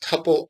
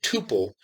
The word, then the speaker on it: tuple: to indicate them now you will hear both Tuple and Tuple used in practice and there's no distinction between them it's just different preferences for how to pronounce the word I tend to prefer Tuple not only because I think that that is how the normal rules of English would pronounce the word but because I think of its Origins as coming from the word multiple now for that cross